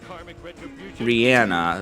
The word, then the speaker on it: Rihanna: that but then rihanna rihanna that's actually how you say her name did you know that